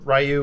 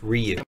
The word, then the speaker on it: Ryu: acat great was punch like 3 seconds later rayu would kick it's pronounced Ryu here's the thing about feudalism everyone always assumes